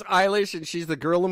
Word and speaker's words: Eilish: It is Eilish, and she's the girl of my dreams, and she's half my age, and that sucks.